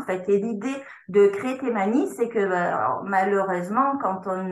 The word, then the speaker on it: Taimani: tes manies en fait on prononce tes manies pas de souci donc de tes